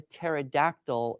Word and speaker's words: pterodactyl: you not hear a pterodactyl in the restroom because there's a silent p this is such a